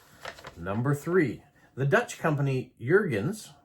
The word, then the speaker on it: Jurgens: Number three, the Dutch company Jurgens, pronounced almost like hens, um, purchased the patent